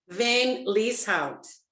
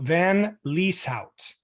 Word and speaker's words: Van Lieshout: sorry okay first you need to unmute van Lee's house that one I wasn't I would not have got that right so van lisout correct what kind of a name is that